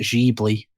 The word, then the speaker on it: Ghibli: like a studio well i guess you pronounce it jeebly but it's studio ghibli as far as this